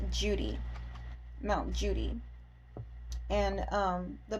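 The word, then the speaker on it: Cudi: on um Mount Judy it's spelled c u d i but it's not pronounced cutie it's pronounced Judy Mount Judy and um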